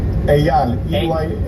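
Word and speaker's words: Eyal: Ayal.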